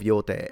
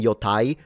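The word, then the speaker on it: Yōtei: This game, Ghost of Yote, I have Oh, by the way, please stop saying yai. This isn't German. It's Japanese.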